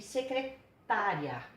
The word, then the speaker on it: secretária: Agora, só para dar uma parte aqui, olha a diferença. Analise, a sílaba tônica está aqui. Receberá, a sílaba tônica está aqui. Secretaria, a sílaba tônica está aqui. Mudando a sílaba tônica, muda o sentido da palavra, tá?